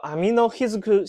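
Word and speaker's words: 天之日津久: 之日金九神社，读作 Amino Hizuku 信家。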